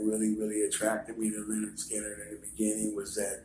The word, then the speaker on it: Lynyrd Skynyrd: that kind of like uh interested me to Lynyrd Skynyrd um and put you know plus all the great things you'll hear when you're a ga pronounce Leonard Skinner you know and you know how you hear